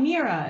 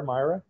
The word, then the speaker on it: Mira: You said, I want to hear more about Mira. It showed up on one of the slides. Can anybody here talk about Mira? Talking about the star, Myra? Myra. Okay, sorry. See, I even said it wrong.